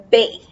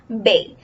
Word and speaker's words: bae: So the word is bay. This is how you pronounce it, bay. It says B-A-E.